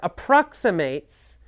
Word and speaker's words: approximate: have to listen carefully the pronunciation is different for the verb and the adjective as an adjective you say approximate the approximate price is